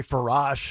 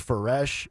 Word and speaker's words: Faresh: We should figure out how you pronounce it, because I say Farash. Apparently it's Faresh. Farish. Farish. Is that what? I still got it wrong. Somebody said rhymes with parish.